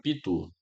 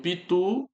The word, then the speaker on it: pitu: Olha o pitu, perceba que o tu é a sílaba forte.